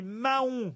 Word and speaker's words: Mahon: Sauf que c'est pas mayo, c'est Mahon, le porc. Bah parce que vous le prononcez à l'américaine.